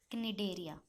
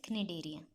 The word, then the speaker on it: Cnidaria: Third is Cnidaria. C is silent with Cnidaria.